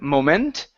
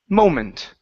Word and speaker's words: moment: word here is moment the stress is at the beginning instead of moment it's moment moment good just uh